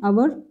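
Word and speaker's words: hour: इसकी बात करें तो इसमें एच साइलेंट होता है, इसको हम प्रोनाउंस करते हैं अवर, इसे हम प्रोनाउंस करते हैं ओफन।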